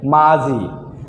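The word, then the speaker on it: 맞이: যদি আমরা রুলস না জানতাম তাহলে তো মাত ই, রুলস জানার কারণে হবে মাছ ই, মানে এই রুলসটা যদি না জানতাম, কিন্তু একদম সঠিকভাবে উচ্চারণ হবে মাজি, মাজি, মাজি।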